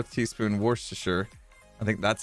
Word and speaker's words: Worcestershire: Shire I don't know it's not pronounced wash your sister Wooster Worcestershire Worcestershire Worcester Shire that sounds weird I've always said Worcestershire I used to love